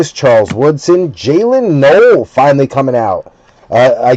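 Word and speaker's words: Jaylin Noel: Jaylen Null. I always thought it was Noel, but I heard them pronouncing it in the uh playoffs.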